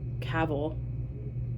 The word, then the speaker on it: Cavill: witcher simply because henry cavill because you're supposed to say it like travel cavil is amazing oh he's